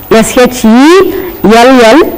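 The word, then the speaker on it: shall: S-H-E-L-L, shell. There is a sound in the middle. S-H-A-L-L, shell. There will be inverted E in the middle.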